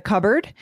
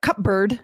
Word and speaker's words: cupboard: Or can you get the plates from the cupboard? Right. Not mm-hmm. cupboard, not cupboard, but cupboard. Cupboard. Exactly. Right. But yeah. If you're writing it, you have to remember there's that silent P.